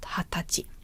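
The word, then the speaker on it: 二十歳: old is pronounced so there's no Sai because it's already included in this pronunciation so please memorize that it's not need to say but Hatachi 30 years old would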